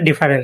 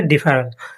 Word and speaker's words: deferral: এটা অনেকে উচ্চারণ করেন ডিফারেল। কিন্তু সঠিক উচ্চারণ হবে ডিফারেল। এর বাংলা অর্থ স্থগিতকরণ পিছিয়ে দেওয়া বিলম্ব।